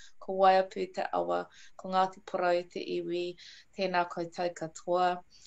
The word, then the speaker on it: Ngāti Porou: Yeah, the NG is actually pronounced together like saying an N with a silent G, I guess, but like how you say NG at the end of ring.